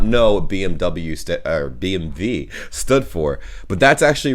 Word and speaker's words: BMW: english and in german in english people say bmw in german we say bmv because oh b in